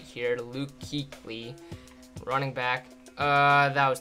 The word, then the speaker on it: Kuechly: 99 yard run first all right it's Luke Keeley that's what it is right I'm I probably pronounced that wrong too but I'm pretty sure it's Luke Keeley Luke Keeley anyways attempts